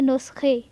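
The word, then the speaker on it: نسخه: میں پڑھیں گے نقطے۔ نسخہ تو ہم اسے پڑھیں گے نسخے، ٹھیک ہے۔ نسخے، نسخے یعنی جو دوائیں وغیرہ ڈاکٹر لکھ کے دیتا ہے پرچی پہ تو اسے کہتے ہیں نسخے۔ نان، نان مطلب روٹیاں،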